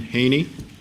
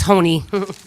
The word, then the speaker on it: Haney: have is uh Haney it's Hony sorry that's all right it's a hard one to pronounce rhymes with pony hello my name is